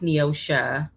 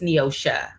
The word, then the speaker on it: Neosha: Um well um my first name is pronounced with an a at the end. So it's pronounced Neosha. My mother is very Yeah. So it's Neosha, not Neos, but it's